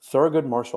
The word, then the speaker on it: Thurgood Marshall: Thurgood Marshall. I hope I pronounced that right. Yeah, pronounced that right? You said it correctly.